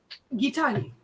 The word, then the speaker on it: Gitahi: Gitahi. That's with a G, right? Yes, it's a hard G. Strong G.